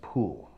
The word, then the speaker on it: Pole: Cardinal Pole, that's how it's spelled, but in the 16th century English, it's actually pronounced Poole.